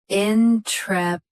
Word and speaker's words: intrepidly: Both US and UK have the same pronunciation of this word. Stress trep. Keep id light and lee clear. Intrepidly.